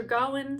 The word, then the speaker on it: Gawain: The very first recommendation I have is a Middle English poem called Sir Gawain or Sir Gawain, some people pronounce it that way, and the Green Knight.